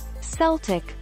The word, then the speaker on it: Celtic: letter c is always coo and celtic is celtic with a hard c said harbeck the same